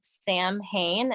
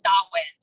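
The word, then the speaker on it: Samhain: right but it's called Sam Hayne s-a-m-h-a-i-n yeah that's right it's pronounced so weird you pronounce it like there's a w it's solid someone that's weird okay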